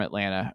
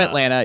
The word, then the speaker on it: Atlanta: If you're from Atlanta, you say Atlanta. I see. And it's wrong. Like we're just leaving out a t there as Ethan pointed out.